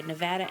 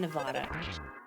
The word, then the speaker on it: Nevada: Well, both work, okay? Nevada and Nevada.